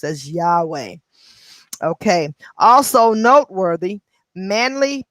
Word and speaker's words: Yahweh: covered from last chapter and that y-h-w-h is pronounced as yahweh okay also noteworthy manly p hall the most